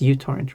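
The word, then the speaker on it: µTorrent: It's just uTorrent, right? It's called like usually, even though it's microtorrent, which was the most popular torrent client until it got so bloated.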